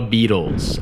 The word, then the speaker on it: Beatles: another word that is very tricky to pronounce is beetles like the Beatles I hear hungarians say this all the time they say beatless beatless the beatless it's not the beatless it's